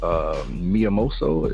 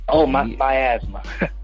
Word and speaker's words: Miasma: Miyamoto? Is it Miasma. Miasma. Okay. Yeah. There it is, plain as day. Miasma.